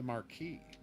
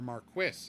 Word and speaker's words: marquee: The marquee or Marquis if you prefer to pronounce things incorrectly.